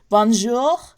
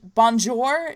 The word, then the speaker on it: bonjour: english pronunciation but anyway here's the difference between bong bong jewel in French English and whatever languages have rolling r's its bum jewel in English Bonjour I mean in french bonjour in French and Bonjour